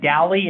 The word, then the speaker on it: Daly: Well, if you're from Red Lodge, you pronounce it Daly. I was gonna say Daly Civil Art, or maybe. I'm just saying, the guy whose name it was said Dally, and he got books written about him, so, and if you look at the way it's spelled, you'll realize it really is Dally.